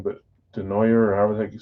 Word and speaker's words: Desnoyers: I want to see, I forget his first name, but Denoyer, or however the heck you say his name. Desnoyers is how you say it, but I think it's French.